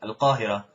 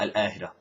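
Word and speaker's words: القاهرة: Al-Qahira stays, the qaf stays qaf. It's not al-Ahira.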